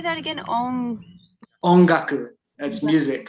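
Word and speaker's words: 音楽: Ongaku, that's music. So sound is on, which sounds like om, right?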